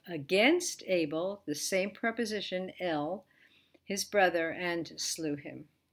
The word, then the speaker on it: אל: under it a segal it's pronounced ill and in general even in speaking you're not going to be able to hear the difference between l god and l which means it's preposition 2